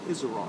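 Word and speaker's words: Isaraj: They told me it's Isara. Isara, okay. I-S-A-R-A-J and the J silent.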